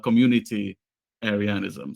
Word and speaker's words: communitarianism: of political thought is communitarianism. Yeah. It's not communism. It's like community-arianism. So and nothing to do with Aryans, whatever. So it's a bad way to pronounce it.